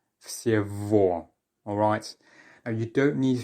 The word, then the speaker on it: всего: The letter G, it turns out, is often changed to more of a V sound when it's in between two vowels. So because we have Y, then G, and then O, that becomes V. Всего.